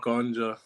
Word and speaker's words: Ahondjo: Did I get that pronunciation right, bro? Yeah, pretty much, Ahondjo.